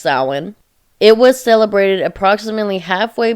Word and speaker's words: Samhain: is spelled Samhain, or a lot of people pronounce it Samhain, but it's pronounced Samhain.